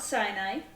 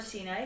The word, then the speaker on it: Sinai: and they have camped at Mount Sinai, or Sinai, however you want to pronounce that.